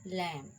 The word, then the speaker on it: lamb: is silent the letter b is usually not pronounced after m do you remember that at the end of a word like calm down thumb climb thorn tongue crumb and lamb see there is no sound of b in these words and rule number two